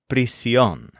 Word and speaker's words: prisión: The word for jail is cárcel, and the word for prison is prisión. They're both feminine nouns, and they're both spelled with an accent mark on the stressed syllable.